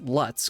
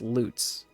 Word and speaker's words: Lutz: Like it it's it looks like it would be pronounced Lutz because it's L U TZ, but it's just it's loots.